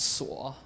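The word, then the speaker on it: 锁: at the very top it's pronounced saw oh gosh I'm sorry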